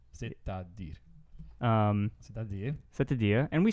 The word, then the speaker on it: c'est-à-dire: So this is a fixed expression that sounds like c'est-à-dire. C'est-à-dire. You say the T.